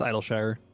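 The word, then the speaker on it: Idyllshire: that am I pronouncing is it it'll sure or idolshire it's idle Shire Idol Shire okay uh where they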